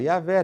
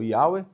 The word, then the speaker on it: Yahweh: Então, é daqui que a gente pega o nome Yahweh, e aí tem gente que fala Yahvé, tem gente que fala Jeová. Muitos acreditam que a pronúncia mais adequada vai ser o Yahweh, mas é o que